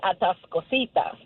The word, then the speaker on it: Atascosita: with at the Scotia because it's red in Spanish it's read atascosita and that's what we